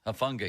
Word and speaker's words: Hufanga: The best strong safety, Hufanga, I think his name is. I don't for know the 49ers. I'm so bad at pronouncing those names. Hufanga, yes, Hufanga. You're absolutely right about that, Fulsey.